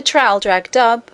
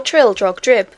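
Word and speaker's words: Traldragdubh: It contained a warrant for conducting me and my retinue to Traldrag-Dub, or Trildrog-Drib, for it is pronounced both ways as near as I can remember, by a party of 10 horse.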